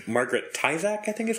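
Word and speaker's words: Tyzack: And so Claudius runs in, and Antonia is sitting in a chair, and it's Margaret Tyzak, I think is how you say her name?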